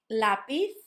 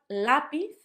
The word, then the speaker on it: lápiz: The second one, lápiz, lápiz. So a lot of my students start saying lápiz. Obviously, we're going to talk about the phonics of the letter Z and how it's like sound and not s, although it can also be s, coming soon. So lápiz and not lápiz.